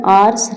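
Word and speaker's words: hours: फिर है 177 में आर्स रेस्ट। तो यहां पे आर्स में एच को साइलेंट रखते हैं।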